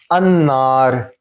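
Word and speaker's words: النار: अन्नार, अब इसमें लामे तारीफ जो है वो पढ़ा भी नहीं जा रहा.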